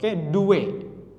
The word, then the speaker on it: due: Do, ini bacanya do, due, tulisannya due, D-U-E, bacanya do primarily.